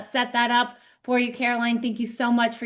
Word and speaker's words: Caroline: It's Caroline. So that's the way it's spelled.